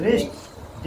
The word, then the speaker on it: wrist: लेकिन जब इसका उच्चारण कर रहे हैं तो डब्लू का यहां पर कोई आ रहा है?